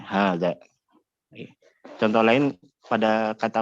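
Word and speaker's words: هذا: Hanya saja alif yang setelah ha ini tidak ditulis, tapi pengucapannya tetap harus ada, tidak boleh tidak, karena memang asalnya ada alif, hanya saja tidak ditulis, ya. Diucapkan namun tidak ditulis. Ya, hadza.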